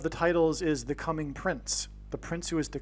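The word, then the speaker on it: Prinze: It could even in fact be pronounced as Prince. I don't know. But it definitely rhymes with Prince nonetheless.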